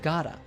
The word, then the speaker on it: got a: Notice that the letter T in got is pronounced as a flap T and connects to the article a, which is pronounced as a schwa sound, So we hear gotta.